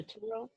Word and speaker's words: Turo: Well, I originally had started with Turo. Turo, Oh, that's how you uh, pronounce it. Yeah, Turo.